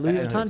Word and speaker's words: Louis Vuitton: Louis Vuitton yeah yeah yeah yeah is that Louis Vuitton did I say it right yeah yeah yeah